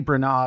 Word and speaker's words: Branagh: ultimately settled on kenneth branagh i have been practicing saying his name brana because beforehand i was going to pronounce it bran ag and everyone was going